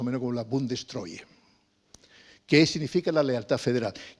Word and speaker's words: Bundestreue: Bueno, entonces me atrevo a decir que se pronuncia más o menos como la Bundestreue.